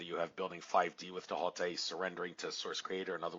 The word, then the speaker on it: Thoth: The whole thing dealing with the emerald tablets of Tahote, and I did say Tahote. There actually is no TH sound in the ancient Egyptian languages, so it's not pronounced Thoth, it's really Tahote.